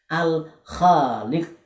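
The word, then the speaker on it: الخالق: Jadi ini ada alif lam ya, alif lam sukun fathah al, kemudian kha alif fathah kha panjang, kemudian lam kasroh li qaf dhammah ku. Kalau dibaca di belakang jadinya sukun, maka membacanya Al-Khaliq. Sama-sama Al-Khaliq, Al-Khaliq.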